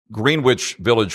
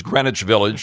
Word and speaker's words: Greenwich Village: You know it's not Green Witch Village Frank it's Greenwich Village or you know stuff like that you're instantly corrected.